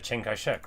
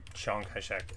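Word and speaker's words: Chiang Kai-shek: Yes, you you were telling me the ones that ended up with Chiang Kaishek, right? Or Chong Kai-shek is probably closer to how you're supposed to say it.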